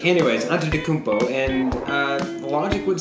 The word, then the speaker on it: Antetokounmpo: Now they have Chris Milton, Giannis Antetokounmpo. Can you say his name? Giannis Antetokounmpo. Oh, nice. Okay. No, I don't get I can't spell it, but I know how to say it. Antetokounmpo. Anyways, Antetokounmpo.